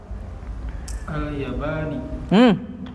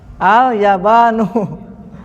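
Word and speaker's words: اليابانُ: Al-Yabani. Kenapa dibaca kasroh di sini? Sementara gak ada yang mengkasrohkan. Dibacanya yang benar apa? Al-Yabanu.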